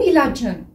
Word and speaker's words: ilacın: Alors, vous savez qu'ici, ilaç, normalement, ça s'écrit avec un Ç qui veut dire médicament. Mais ici, puisqu'on a ajouté après une voyelle, le Ç est devenu J.